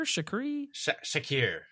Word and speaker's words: Shakir: How do you say his name? Is it Shakir? Shakir. Yeah, Shakir. He made some really great catches.